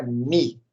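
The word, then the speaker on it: μ: É a letra grega Mi, que se escreve mu, M-U, tá? Mas é a letra Mi.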